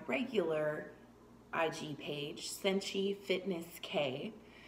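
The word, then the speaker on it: Kaie: IG page, Senshi Fitness K. That is how you say my name, by the way. It's K-A-I-E. It's a Buddhist spelling.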